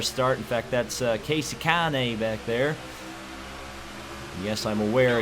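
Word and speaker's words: Kahne: in fact that's Casey Kane back there yes I'm aware it's not pronounced Casey cone for the love of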